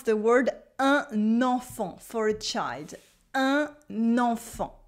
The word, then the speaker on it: un enfant: And you get to try and pronounce the word un enfant for a child. Un enfant. In un enfant, you have a silent T at the end and two nasal sounds. En and fan.